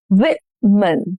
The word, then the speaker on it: women: Stress on the first syllable. Women.